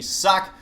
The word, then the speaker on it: Socke: center left side is going to be suck and I have asked him he said it's okay that i pronounced it sucks so told me that